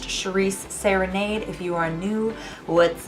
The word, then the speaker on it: Shiries Serenade: of you who don't know my name is pronounced Charisse serenade if you are new what's up welcome how's